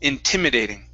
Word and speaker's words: intimidating: that word here okay it's instead of intimidating it's inter intimidating intimidating intimidating okay okay intimidating so put the stress right on the t intimidating intimidating that's it okay